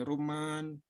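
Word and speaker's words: رمان: Gimana bacanya gimana ya? Rumman. Ini panjang nih.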